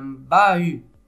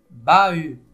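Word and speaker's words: bahut: comme on avait vu le H ne se prononce pas et ça c'est un bahu bahu bahu bu la deuxème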